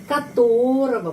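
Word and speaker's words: которого: Di sini kotorogo tapi G dibaca V dan O ini dibaca A. O ini dibaca A. Kenapa? Karena katorava penekanannya di sini.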